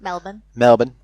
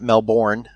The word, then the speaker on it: Melbourne: Melbourne, not Melbourne, as it's spelled.